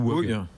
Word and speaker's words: Whoog: On prononce WUG ou WUG? Comment? On prononce WUG. WUG, très bien.